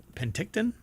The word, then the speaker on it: Penticton: um telescope located in uh pent is it pent how do you pronounce that Penton uh BC or P Penticton Penticton there you go I guess so that's